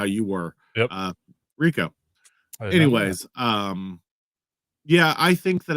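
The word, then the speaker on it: Rehkow: Rico is how you pronounce it.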